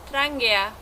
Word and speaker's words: Trangia: I someone asked me how I would pronounce tranga in Swedish and um it will be um tranga almost the same as in English I guess tranga tranga trangia um